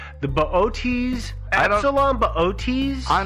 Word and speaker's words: Boötes: butcher this pronunciation, the Boötes, Epsilon Boötes. I'm not sure. I just call it booties myself. But I know Booties isn't correct. No.